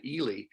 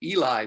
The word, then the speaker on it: Ely: reference to a town in northern Minnesota called Ely, which is spelled E-L-Y, and poor Joe ended up pronouncing it Eli, Minnesota.